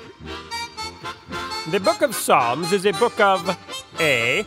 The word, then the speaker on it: Psalms: next question true or false the p in Psalms is a silent p true next question